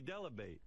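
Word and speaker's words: Dell'Abate: Gary Delabate. Rhymes with debate.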